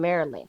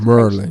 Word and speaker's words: Maryland: grew up in Maryland, which is Merlin. and You I said it grew up in wrong. Prince George's It's County. Right. Merlin. You said it wrong. Prince George's County You said it wrong. It's is Merlin. Not whatever. Maryland. It's Merlin. Okay, because education taught me